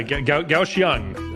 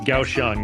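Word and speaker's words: Kaohsiung: Gausang. I'm sorry. I I know it doesn't it doesn't look like how it's pronounced, but yes, it's Gausang is how you pronounce that's where we're flying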